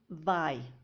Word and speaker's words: vai: Il, so as I explained, il vai. Yeah, we pronounce it vai, not vei. Some people think it's tu vais and il vei, but it's actually tu vais and il vai.